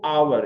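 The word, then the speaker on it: hour: तो आवर, यहां उच्चारण आप आवर करते हैं तो यहां क्या है, स्वर ध्वनि है। तो जब स्वर ध्वनि से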